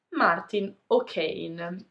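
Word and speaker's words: Máirtín Ó Cadhain: come si è scritto, è un nome difficile da pronunciare per chi non conosce la lingua irlandese. Non è mai stato anglicizzato, ma per aiutare il lettore potremmo dire che si pronuncia all'incirca Martin O'Kane. E quindi, insomma, questo nome si pronuncia più o meno Martin O'Kane.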